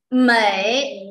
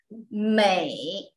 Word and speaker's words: 美: Mei. In Chinese is Mei. China is very beautiful. 中国很美. Singapore very beautiful. 新加坡很美. Mei. Mei is the tone. Mei. Like similar pronunciation like hey, day, bay.